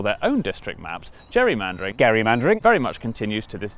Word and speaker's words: gerrymandering: And that's how the process of manipulating maps for political gain became known as "Gerry-mandering". And then everyone started pronouncing it wrong. Which is how it became known as "Jerry-mandering" which was good news